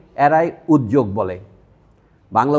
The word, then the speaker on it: উদ্যোগ: বাংলা উচ্চারণ উদ্যোগ। কেন? কোনো অক্ষরের সাথে যখন আপনার এই জফলাটা বসবে তখন, অর্থাৎ যুক্ত অক্ষর হলো, দ জয় হলো, বাংলা নিয়ম হচ্ছে এইটাই। এটা যুক্ত অক্ষর, তখন উচ্চারণ হবে দ জ।